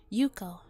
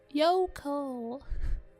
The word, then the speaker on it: Yoko: Yuko. Yoko. Why do I keep saying Yuko? She's dead and I can't pronounce her name right. I feel bad. Yoko, not Yuko.